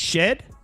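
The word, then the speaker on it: Shead: shed That's my boy oh is it shed I'm I'm a big fan he made me a lot of money it's shed yes it's spelled Sheed she's Sheed to me next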